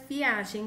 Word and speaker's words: viagem: essas duas frases e as palavras viagem com g e viajem com j tem a mesma pronúncia mas pertence a classes